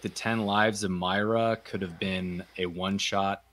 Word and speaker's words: Moira: Patrick I'm sorry Patrick it's it's Myra oh God Myra that's how you pronounce it Moira Moira McTaggart this